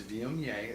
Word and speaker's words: Viognier: A lot of people have a hard time pronouncing Viognier. It's Viognier, and not a lot of production on this wine.